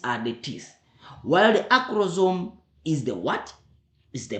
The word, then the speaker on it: acrosome: We have the scientific way how we pronounce this. So we call them the acrosome.